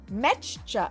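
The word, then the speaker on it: Meccha: a Japanese duo and Metcha. Metcha. I will get it right because you have to pronounce the ch like twice is an actual Japanese word. So it's not mecca chameleon.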